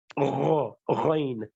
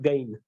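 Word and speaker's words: غين: And likewise, ain has to be ghain, not gh sound, not gain. Gain is not correct.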